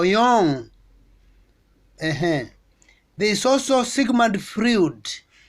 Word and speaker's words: Jung: you know about khao jung the right to pronounce him kao young there is also sigmund